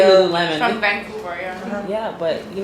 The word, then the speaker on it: Lululemon: sure lul lemon Lululemon some people pronounce it Lon I say Lululemon from Vancouver yeah but